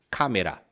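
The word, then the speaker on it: カメラ: se diz câmera câmera só presta atenção na pronúncia né para não anasala a em português a gente fala meio C né câmera em japonês cammera câmera como eu já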